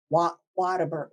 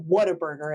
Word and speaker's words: Whataburger: chain of Whataburger, because they say it like Whataburger. Whataburger? When I was little, I used to say water. Yeah. Yeah. And you're a native. Yeah. Yeah. But people who've moved here, they're like, well, I'm just reading it phonetically, which is a big mistake in Texas. Whataburger. And it's not Whataburger, it's Whataburger.